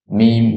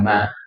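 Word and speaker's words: ميم: Alifun ba taun sa jimun bukan ja tapi jim ha. Nah, mim bukan ma.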